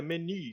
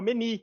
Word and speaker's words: meny: É menu, lá, pra você falar um menu de restaurante e tudo mais, é meny. Antigamente, eu falava meni. Eu tô falando errado.